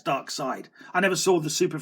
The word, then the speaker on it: Darkseid: We get our first look at Dark Side, which I've always pronounced, by the way, since I could read comic books, Dark Seed, because of how it was spelt. I thought that's how it was pronounced, Darkseid, Dark Seed, but